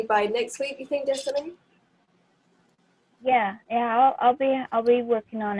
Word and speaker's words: Destiny: And Stephanie, right? Did I say it right? Destiny.